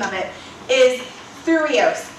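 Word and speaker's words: thyreos: The Greek name of this shield, and I absolutely love this, here's the Greek name of it, is Thureos. It's T-H-Y-R-E-O-S. T-H-Y-R-E-O-S. It's pronounced Thureos.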